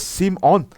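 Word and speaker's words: שמעון: Después nació Simón, que en hebreo es Simón, y significa Dios ha escuchado.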